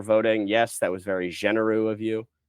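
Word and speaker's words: Généreux: Yes, that was very genereux of you. Pronounced like Matt Genereux, the conservative MP who quit.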